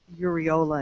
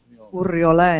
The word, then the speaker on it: Uriola: It's pronounced Uriola in English. Uriola in Spanish.